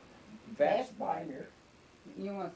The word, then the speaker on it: Vestbinder: Vestbinder. You want to spell it? V-E-S-T? V-E-S-T-B-I-N-D-E-R. It's like it's pronounced.